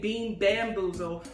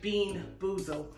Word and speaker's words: Bean Boozled: i butchered the name i kept saying bean bamboozle when it's actually bean boozled so um we're going